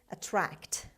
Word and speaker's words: attract: The last word of today's lesson is attract. Attract. Attract. The stress is on T sound, actually on the second syllable.